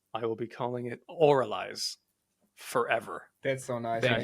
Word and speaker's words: Avralize: viewing this with the name we're going so oraly would be the preferred pronunciation right but are you at a point